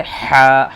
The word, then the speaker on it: ح: کے نیچے ایک نقطہ۔ یہ ہے حا، حلق سے، حا، حلق سے پڑھیں گے۔ حا خالی، یہ خالی